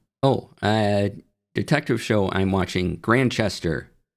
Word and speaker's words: Grantchester: Well, detective show I'm watching, Grantchester, and there's a T in there that you don't pronounce.